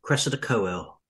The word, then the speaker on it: Cressida Cowell: Cressida Cowell.